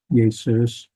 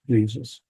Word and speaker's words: Jesus: Yesus. And then after the letter J was invented, we adopted that in English and changed it to Jesus. But we kind of lost the Yesus sound. It's just Jesus.